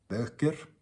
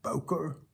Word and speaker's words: Böker: This is Böker or Boker, like the Americans say.